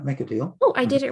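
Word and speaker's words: Machidiel: And then how do you say Macadiel? Yes, that's right. Make a deal.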